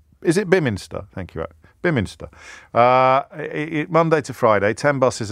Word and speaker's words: Beaminster: I'm pretty sure it's not pronounced Beaminster, but I think, anyway, Bemster. Bemster, is it? Is it Biminster? Thank you. Biminster.